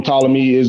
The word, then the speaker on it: Ptolemy: I don't know why I say Ptolemy, but the P is silent. From Ptolemy that's why he wanted to be consecrated as a god.